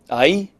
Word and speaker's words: hay: a Mariposa silly three words that sound a lot alike I I and I I oh there's something in